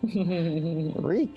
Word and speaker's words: Reek: Reek, it rhymes with week.